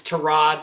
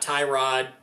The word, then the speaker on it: Tyrod: Terrell, by the way, Jim, just says it's Terrod, not Tyrod.